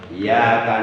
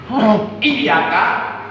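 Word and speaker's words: إِيَّاكَ: Iyyaka na'budu wa iyyaka nasta'in. Salah benar? Salah. Di mana letak kesalahannya? Huruf iyanya, tasdidnya dihilangkan. Itu mesti dibaca taskil, dibaca berat. Tekan.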